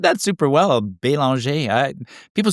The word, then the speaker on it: Belanger: Hey, you said that super well, Belanger. People say Belanger, which I'm used to, but Belanger is like the right, proper French pronunciation.